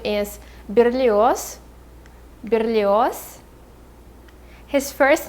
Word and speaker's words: Berlioz: baron maigel so his last name is miguel berlioz michael alexandrevich so first his last name is berlioz berlioz his first name is mikhail not michael